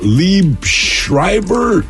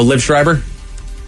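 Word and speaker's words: Liev Schreiber: He played, is it Lieb Schreiber? Oh, Liv Schreiber? Yes.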